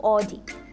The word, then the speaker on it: Audi: While some may say Audi, Audi. It's Audi, Audi. It's not Audi, it's Audi. O-W, Audi. Next. It's often mispronounced as Lamborghini.